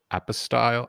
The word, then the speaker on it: apostille: Apostille? Apostille? Well, how is it No, pronounced?